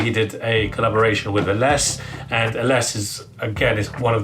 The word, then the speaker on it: Ellesse: There's been heavy debate whether it's ELLESSE or ELLESSE, but because it's named after the founder's daughter, I'm pretty sure it's ELLESSE, and it's Italian as well.